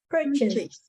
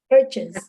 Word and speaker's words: purchase: you pronounce purchase okay purchase oh it's not like it's it's not chase it's chess uh it's just purchased it's not for chase purchase no purchase just purchase yeah okay